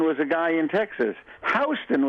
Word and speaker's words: Houston: Houston was a guy in Texas. Houston was a guy in New York. They got nothing to do with each other. So that's why it's pronounced differently.